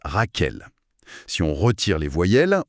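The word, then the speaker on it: רחל: Et si on applique ça au premier personnage Rachel, le nom hébreu se prononce Raquel.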